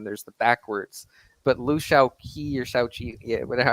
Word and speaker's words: Shaoqi: yeah, it's pretty funny too because after the death of Mao, Liu Shaoqi or Shaoqi, however you pronounce his name, um, I think like it's Chao-Chi. Shao-Chi.